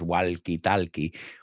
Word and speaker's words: walkie-talkie: La L no lo pronunciamos, no es walkie-talkie.